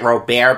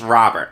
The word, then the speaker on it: Robert: I think I pronounced it Robert before. It's Robert.